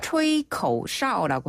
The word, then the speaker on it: 吹口哨: 네, 휘파람은요 조금 어려운 발음이긴 한데 네. 吹口哨라고 해요.